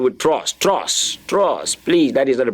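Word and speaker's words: trois: that is the pronunciation the last s there is silence the last is what about silence okay that's a very good one somebody's saying silence okay the S is silent it's not pronounced okay so the pronunciation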